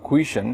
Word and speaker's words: question: আমরা অনেক ক্ষেত্রে এই ওয়ার্ডটি উচ্চারণ করে থাকি question or question কিন্তু সঠিক উচ্চারণটি হচ্ছে question. Question. You can see it's a two-syllabic word. First one is quas and next one is chun.